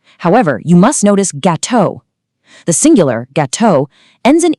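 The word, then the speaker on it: gâteaux: For the majority of nouns, the singular and plural forms are pronounced in exactly the same way. Melon sounds identical to melons. Gateau sounds identical to gateau. That final written letter is purely for the eyes, not the ears.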